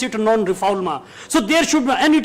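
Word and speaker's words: non-refoulement: friends the principle of non-rephalma and non-reformer it's a French you know terminology but it is written as known reformant in English but the pronunciation remains French so we pronounce it non-rephalma so there should and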